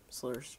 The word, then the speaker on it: SLRR: So guys, to start off our slur series, slur means Street Legal Racing Redline. Slur's just the short form for it, which is not spelled like slur as in slurring your words. It's SLRR.